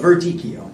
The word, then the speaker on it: Verdicchio: I can't even know if I can even pronounce it. Yeah, well, I kind of put the little accent on there, but Verdicchio. Verdicchio.